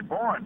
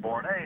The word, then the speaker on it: Borne: that I realized that she was mispronouncing my name, that it was really Borne, but she pronounced it Borne.